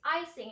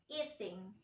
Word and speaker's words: icing: For example, teacher, the right pronunciation of icing is icing and not easing.